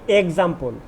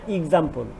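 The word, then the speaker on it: example: Dear students, অবশ্যই কিছু কিছু প্রোনাউন্সিয়েশন আমরা ভুল বলে থাকি, যেমন আমরা বলে থাকি এক্সাম্পল, এর উচ্চারণটা অবশ্যই এক্সাম্পল নয়, এর উচ্চারণটা এক্সাম্পল।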